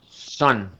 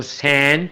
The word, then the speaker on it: sun: Oigamos esto, sun. Yo no digo sun porque es una A, ni digo san porque es otra A.